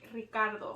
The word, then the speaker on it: Ricardo: I think it's a combination of me not being able to roll my R's and me making it easier for people to say my name.